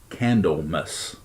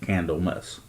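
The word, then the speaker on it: Candlemas: the Sabbath festival of Kendall mus and yeah I'm saying it right it's like candle with the MAS so basically like Christmas but candle mess which is on February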